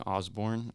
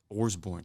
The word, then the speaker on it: Osborne: I remember my sophomore year, the announcer kept saying Osborne, and he was like, if they say Osborne one more time, I'm gonna go up there and say Orsborn. That's how you say it, Orsborn.